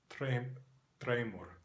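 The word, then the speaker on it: dreymur: In Faroese, it is spelled D-R-E-Y-M-U-R, and it is pronounced Treimur, Treimur.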